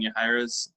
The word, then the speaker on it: Yahaira: It's a little more traditional than Yahaira's. Am I pronouncing that right?